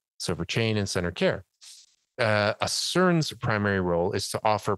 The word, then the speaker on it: ACERN: Mary Rodwell is the founder and principal of Australian Close Encounter Resource Network, ACERN. That's the way to pronounce it, just like the word.